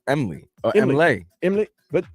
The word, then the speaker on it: MLE: It's spelled M-L-E. Emily. Are you okay with that, Vlad? Say that again? Family's mad at their daughter for naming her daughter Emily. M-L-E. Not Emily. Emily. MLE. So they're upset with the spelling of the name. Yeah. Even though it's the spelling of the name is basically the pronunciation of the name.